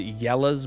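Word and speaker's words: Jelle's: fan of um um oh well it's they pronounce it yellow's Mar marbles runs but it's spelled like Jelly's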